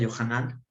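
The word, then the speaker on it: יוחנן: comentarios primero que nada el nombre de juan verdad es que en el hebreo se pronuncia johana johana y se traduce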